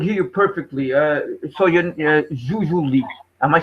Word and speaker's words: Jujuolui: So you're Jujuolui. Am I saying your name right? It's pronounced Jujuolui, Okay.